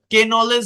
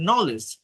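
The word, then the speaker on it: knowledge: যদি থাকে শব্দের শুরুতে তাহলে কেটা সাইলেন্ট থাকে যেমন এটা কিন্তু কে নলেজ না এটা হচ্ছে নলেজ নাইট নিট নক নাইফ্যা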